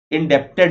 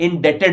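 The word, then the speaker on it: indebted: इंडेप्टेड लोग बोलते हैं, इंडेटेड बोला जाता है।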